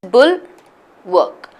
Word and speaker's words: bulwark: syllables yeah two syllables it's just bull work but the only thing is even though it's pronounced as bull work right it's not work but it's W a RK so mal ball out